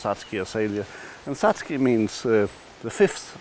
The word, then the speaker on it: satsuki azalea: a or satsuki a sadie but it is pronounced satsuki azalea and satsuki means the fifth month and that's